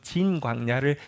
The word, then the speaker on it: 진광야: 성경에는 똑같이 신광야라고 번역했는데 히브리어 발음은 조금 다릅니다 그래서 조금 더 정 바람을 하면 진광야를 지나게 되었습니다 유대광야를 지나면 이스라엘 땅에